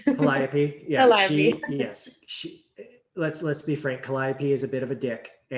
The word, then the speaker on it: Calliope: And I'm going to say her name wrong. Calliope, yeah, Calliope.